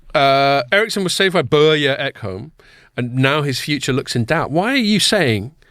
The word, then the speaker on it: Börje: Ericsson was saved by Börje Ekholm, and how do you pronounce those two dots over his O? Is it Börje? I think Börje, it's supposed to be.